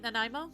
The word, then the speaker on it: Nanaimo: Nanaimo?